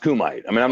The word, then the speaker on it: kumite: Well, I call it Kumite. I mean, it's pronounced Kumite.